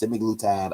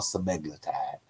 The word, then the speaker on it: semaglutide: It's pronounced semaglutide or semaglutide.